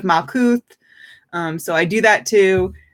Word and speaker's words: Malkuth: She pronounces the TH at the end of Malkuth.